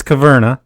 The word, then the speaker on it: Caverna: It's Caverna. Caverna. The cave versus cave.